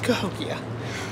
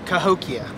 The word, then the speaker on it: Cahokia: to the Cahokia Cahokia don't make it sound stupid it's Cahokia yeah say it again Cahokia say it slower ho ho Cahokia there you go that's